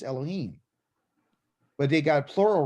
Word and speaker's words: Elohim: should explain that too in english they spell it l o l o and they say heme but it's really elohim okay elohim okay the